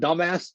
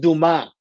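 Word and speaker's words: Dumas: Alfred Dumbass, it's pronounced Duma.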